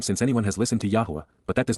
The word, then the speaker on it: Yahweh: perfect Yahweh Yahweh God's personal and proper name pronounced Yahweh H based upon haa to exist and Torah